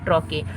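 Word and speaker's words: trochee: Next है इंट्रोकी, ट्रॉके इसका pronunciation है ट्रॉके।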